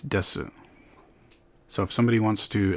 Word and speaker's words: desu: A lot of people say des without the U sound at the end. So there's going to be special things that are just a result of people speaking quickly, you know. Technically it's desu.